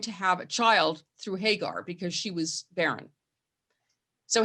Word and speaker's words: Hagar: way they treated hagar i pronounced it hagar hagar i guess is the sort of more american pronunciation but um abraham takes